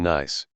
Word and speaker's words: gneiss: Basalt and gneiss, spelled like basil is nice.